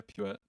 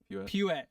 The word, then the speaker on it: Puette: Do I say is it just Puette? Yeah, Puette. Puette. Okay, sorry. Like a little church pew.